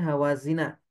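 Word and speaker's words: هوازن: Hawazin ini dibacanya hawazina karena dia isim ghairu munsharif.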